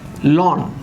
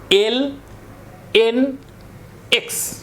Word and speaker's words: ln: উচ্চারণটা অনেকে উচ্চারণ করে লন, LON, ভুল। লন উচ্চারণ করা যাবে না। এটার উচ্চারণ হচ্ছে ন্যাচারাল লগ বা LNX।